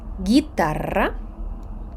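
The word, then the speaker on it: guitarra: ключ літера у комбінації г у і г у е не звучить гітара гепардо а от якщо над нею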